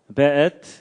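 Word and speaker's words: וְאֵת: 베엣. 요게 이제 W인데도 여기에 독일식 발음을 해서 베 이렇게 읽는다고 합니다.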